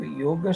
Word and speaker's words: yoga: mantras is talking about yoga. And we pronounce it as yoga because when we write it in the European script, it's YOGA, but the A is silent, so it's yoga.